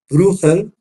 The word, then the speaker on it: Bruegel: del Bosco y de Peter bruel que se escribe bruegel y en holandés le dicen bruel y Qué quiere decir